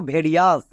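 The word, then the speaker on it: various: next second word প্যাটেন আই ও ইউ এস এর উচ্চারণ হয় আস এটা হচ্ছে ওয়ার্ড প্যাটেন যেমন দেখো ভেরিয়াস এখানে আই আছে এখানে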